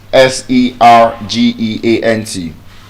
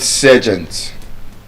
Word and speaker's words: sergeant: The same way the military rank s e r g e a n t. Some people call it sergeant. Some people call it sergeant. The latter is correct. Sergeant.